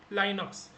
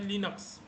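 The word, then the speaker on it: Linux: तो बहुत सारे लोग इसको लाइनक्स भी बोलते हैं, लाइनक्स। तो आप लाइनक्स बोलोगे तो भी चलेगा, बट प्रॉपर प्रोनाउंसिएशन होता है लिनक्स।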